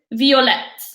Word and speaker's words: violette: All the ones that don't end in E will get an E pour féminin but the only ones the pronunciation will change are the ones we did. Verte, violette, blanche et grise. Why did you put the adjective first?